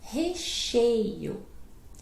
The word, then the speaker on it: recheio: Então a pronúncia é recheio. Recheio. Recheio. Recheio. Recheio. O problema eu sei, são essas três vogais finais, né, todas juntas, né, isso dá confusão mesmo.